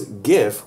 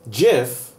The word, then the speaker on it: GIF: email our superintendent said some people pronounce gif with a hard G as in Guam some pronounce it jiff but it's short for